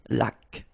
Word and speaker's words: laque: Remember the rule when you get this Q-U, well, U is not pronounced, so you get K, like that. Une laque.